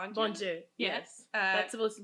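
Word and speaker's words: Bondye: is that there's uh Bonju or Bonju Bonju. Yes. Uh that's supposed to be our god like good god like our father. Yeah god in my head I pronounced it bondi.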